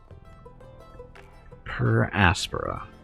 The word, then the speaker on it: Per Aspera: happy new year so again this is uh per aspera that's how you pronounce that again we're just uh building a